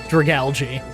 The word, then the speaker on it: Dragalge: I I just realized recently that this Pokémon is made of algae, and so this is definitely pronounced Dragalge.